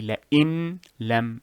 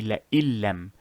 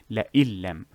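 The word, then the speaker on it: لئن لم: You do not say la'in lam, you say la'illam, la'illam. As if these two words are fused together and the noon has been removed.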